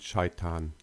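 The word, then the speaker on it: شيطان: In Arabic, they are pronounced as Ibrahim and Shaitan.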